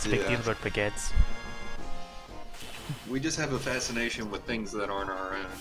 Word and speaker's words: baguette: Baguette? Baguette. Yeah. Like bag and then at.